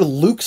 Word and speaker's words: Lux: That's not how you say it. No. It's either Lux or Lux. It's not Lucas.